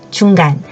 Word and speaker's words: 中: 이때는 한가운데 중간을 의미를 가집니다 대표적 2탄 어로 중간 종지에 이라는 단어가 있죠 그럼 확장에서 생각해 볼게요